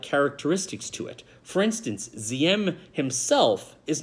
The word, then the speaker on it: Diem: here, is No Din Diem. Holiday, that's a D, not a Z.